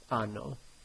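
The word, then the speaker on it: hanno: It is silent, so when you're pronouncing these words here, it goes like this. O, I, anno. Just chop off the H, basically.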